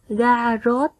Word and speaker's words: Ga-vrốt: Trước khi đọc, các con lưu ý phát âm đúng một số tên nước ngoài. Các con đọc theo cô nhé. Garrot, Anjolra, Cuốc Phây Rắc.